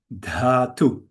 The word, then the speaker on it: dhatu: This consonant here we pronounce as following. If you say a D, a D, a D, a D, in Sanskrit you say da, but when there's an H here, together with the da, it's one letter, we let